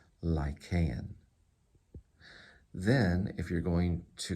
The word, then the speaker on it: Lycaon: So lie, and then K, Lycaon, and it's Lycaon, Lycaon.